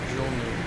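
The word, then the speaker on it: GULMU: Twin Otter 812 Echo Echo, roger, stand So after Kutna, we can go down to 2,700 for Julum, or Julmu, G-U-L-M-U, Julmu.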